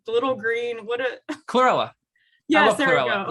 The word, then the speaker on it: chlorella: No, I was going to say cholera, the infectious disease. I'm saying it wrong. The little green, Chlorella.